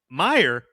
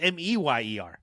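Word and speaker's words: Mayer: So, it's Meyer, but it's spelled M A Y E R. I thought it was Mer.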